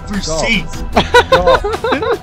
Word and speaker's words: Versace: It's pronounced Versace.